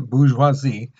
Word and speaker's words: bourgeoisie: here's the thing the bourgeoisie that's how you pronounce it bourgeoisie uh made up about eight percent of france